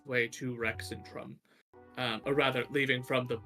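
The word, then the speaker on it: Rexxentrum: making its way to rexentrum or rather leaving from the Asgard Garrison by way of Blade Garden to Rex and Trump that would be the correct way to say that um it um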